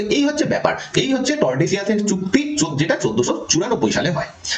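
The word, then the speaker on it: Tordesillas: তো পর্তুগিজ এবং স্প্যানিশদের মধ্যে 1494 খ্রিস্টাব্দে একটা চুক্তি হয়, যে চুক্তির নাম ট্রিটি অফ টর্ডেসিয়াস, এটা টর্ডেসিলাস হবে না, টর্ডেসিয়াস, এলের উচ্চারণটা হবে না, তো টর্ডেসিয়াস কর্ডেসিয়াসের চুক্তি হয়।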